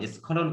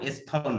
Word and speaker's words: স্খলন: পদস্খলন, স্খলন কিন্তু এটা, হ্যাঁ স্থলন নয়। এই শব্দে তোমরা ভুল করে ফেলো, স্খলন এটা।